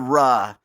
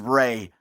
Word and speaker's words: Ra: The principal god was the god Ra, also known as Re, but I'm going to pronounce it Ra, because A comes before E, except after C.